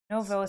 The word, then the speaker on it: Novosibirsk: Novosibirsk.